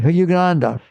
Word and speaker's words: Yogananda: to him, "Hey, Yogan- you know how to pronounce his name? Yogananda, can you do that samadhi stuff?